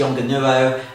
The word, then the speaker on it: Yongnuo: I'm not sure whether that's the correct way to pronounce the manufacturer's name. The spelling of it will be across the bottom of the screen now. But I pronounce it Yongnuo.